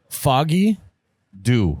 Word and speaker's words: Foggy Dew: name was because I didn't know how to pronounce it so it's foggy foggy do do do hey when you